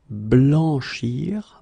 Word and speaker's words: blanchir: In many situations, when you practice on your own and when you try to reach this sound, try to make the sound longer, okay, and try to insist.